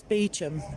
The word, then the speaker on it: Beauchamp: So over there is, I'm assured it's Beauchamp, but it's spelt Beauchamp Tower. But then, yeah, I guess if it was originally called that, they were French, the Normans.